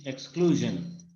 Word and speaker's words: exclusion: এটা হলো British এক্সক্লুশন। এক্সক্লুশন মানে এস জে জে এর মাঝখানে একটা উচ্চারণ, ঠিক আছে? এক্সক্লুশন মানে পুরোপুরি এস না, পুরোপুরি জ জ না, এরকম একটা মাঝখানে।